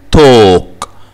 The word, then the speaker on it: talk: برضو في كلمات talk. talk. الـ A بتتنطق او لونج او والال سايلنت.